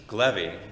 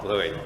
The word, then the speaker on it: Glevy: wanted to explain how to pronounce my last name, which is Glevy, not Gluey, okay?